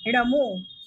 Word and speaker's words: णमो: ध्यान से सुनिएगा उच्चारण ना। ओम ह्रीं अर्हम णमो लोहि बुद्धिणम झ्रोम झ्रोम नमः स्वाहा। ओम ह्रीं अर्हम णमो, मैं फिर बता रही हूँ, ना नहीं बोलेंगे, इसे णा ही बोलेंगे, णमो लोहि बुद्धिणम।